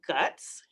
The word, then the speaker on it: GUTS: And yes, it is pronounced GUTS.